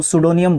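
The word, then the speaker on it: pseudonym: उसको सूडोनियम बोलते हैं। यह पी के बाद एस जब आता है तो पी जो है आपका क्या हो जाता है? साइलेंट हो जाता है।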